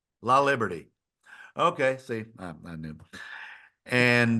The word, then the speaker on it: Laliberte: Laliberte. Liberty. Liberty. Okay, Liberty. La Liberty.